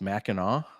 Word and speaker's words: Mackinac: very much appreciate it it's spelled Mackinac but pronounced Mackinaw Mac like the Mackinac Bridge up in northern